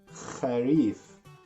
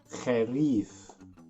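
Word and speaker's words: خريف: Kharif. Try to pronounce the letter Kha. Kharif.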